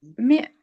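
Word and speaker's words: mè: no eh me me con l'accento sulla e che accento è aperto o chiuso? Aperto.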